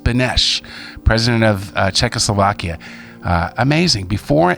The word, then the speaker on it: Beneš: Oh, here it is, pronounced Beneš, president of Czechoslovakia.